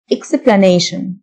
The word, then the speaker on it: explanation: شرح أو تفسير explanation T-I-O-N تنطق شن explanation تفسيري explanatory explanatory قابل